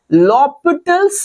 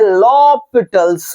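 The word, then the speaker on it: L'Hôpital: situation में हम लगाएंगे लोपिटल्स rule L हॉस्पिटल hello hello hello हम यूज़ करते हैं लॉपिटल्स रूल फॉरेनर है ना तो लॉपिटल्स रूल एच साइलेंट है ना तो ये रूल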